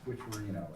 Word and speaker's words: Squicciarino: And mine, bear with me, first name is, the last name is Squicciarino, S-Q-U-I. By the way, S-C- Mr. Chairman, you did a very good job pronouncing it.